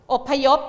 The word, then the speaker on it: อพยพ: แบบ นี้ ต่อ ไป ค่ะ คำ ว่า อพยพ อพยพ อ่าน ว่า อพยพ อพยพ อ่าน ว่า อพยพ อะไร